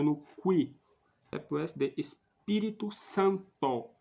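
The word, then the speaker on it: Spiritu: pronunciado no Qui SD Espírito Santo Espírito com u no final Santo com o no final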